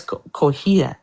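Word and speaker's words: Cotija: No, it's Cohita.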